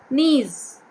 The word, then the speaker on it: knees: have to say bomb knees okay knees k is silent in this word k